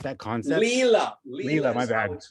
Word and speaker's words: Lila: Is that related at all to Lila, the cosmic game? Like, Say that again. Is it related to Lila, the cosmic game, like that concept? Leela.